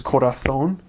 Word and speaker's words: corazón: lisp, but it means whenever there's a C or a Z letter, and the C makes a S sound, then you pronounce it kind of as we would in English, the, almost. So an example is heart is corazón, shoe is zapato.